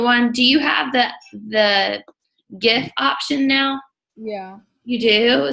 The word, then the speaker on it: GIF: Donnie's saying GIF, like the peanut butter.